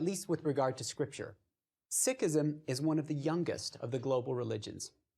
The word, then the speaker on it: Sikhism: In English, we sometimes say Sikhism and sometimes Sikhism. I know Sikh or Sikhism sounds a little strange in English, but that's the way that Sikhs themselves pronounce their religion, so we'll go with that.